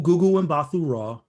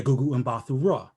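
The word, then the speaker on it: Gugu Mbatha-Raw: Dang no, it's like look, it's an easy mnemonic, guys. Easy mnemonic. Ooh, Gugu and Bathu Raw. Yeah, Gugu and Bathu Raw.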